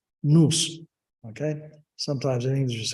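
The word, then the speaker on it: nous: it well I okay in English is spelled n-o-u-s in Greek is pronounced news Okay sometimes in English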